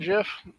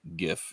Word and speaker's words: GIF: interesting case because the the creator of the GIF is just wrong because he says GIF he says GIF but it's it's the graphics image format yeah yeah well that